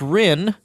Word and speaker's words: Ryn: His name, by the way, is spelled C-L-A-E-S and then R-Y-N. Professor Rinn, welcome to the show.